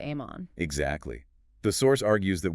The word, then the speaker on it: Amon: Which is phonetically identical to Ammon.